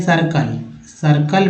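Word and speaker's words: circle: आप लिखते हैं सर्कल में सर्कल में जो है CI जो है यहाँ पर स उच्चारण हो रहा है, सर्कल।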